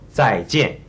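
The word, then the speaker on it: 再见: But it's better to try and get that z sound in the front. See if you can't say it. 在. We say 在见, 再见, which means goodbye.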